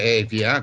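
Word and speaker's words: Εύβοια: Negroponte è il nome veneziano dell'Eubea, l'Eubea è il nome antico che ovviamente in greco moderno si dice Evia, con le variazioni della pronuncia, e quindi l'Eubea perché è importante per noi, soprattutto in Occidente?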